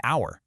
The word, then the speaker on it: hour: That's why we say a university, because it starts with that y sound, and an hour, because the h is silent.